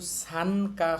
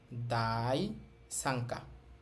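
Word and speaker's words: 第三課: তাহলে উচ্চারণ হবে দায় সাংকা। এখানে কিন্তু সানকা হবে না। এখানে এই নিয়নটা অং হবে। এখানে হবে সাংকা। দাই সাংকা।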